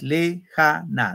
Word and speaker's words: lejana: Lejana, tres sílabas. Lejana. ¿Dónde va el acento? En ja. Muy bien, en ja. Lejana.